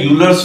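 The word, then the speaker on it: Euler: वाले है वो है यूर्स formula U एल ई आर E silent रहता है इसलिए यूर्स फार्मूला कह देते हैं यूर्स फार्मूला है क्या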